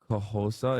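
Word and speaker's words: Xhosa: You can pronounce it as Kahosa if you can't do the clicks.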